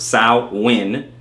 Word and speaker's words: Samhain: Samhain, as I said before, okay, pronounced Samhain, is a Gaelic festival marking